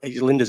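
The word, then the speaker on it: Lijnders: Linders in there. Why am I saying whatever he's called? That's exactly how you pronounce his name.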